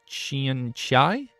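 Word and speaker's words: Xianxia: One leans towards the Fallout and the other Shin I'm sorry, how do you pronounce this genre again? Shin Shin Shin Shia. It's Xiai A. Xiai.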